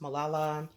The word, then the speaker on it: Malala: This here, I think her name is pronounced Malala.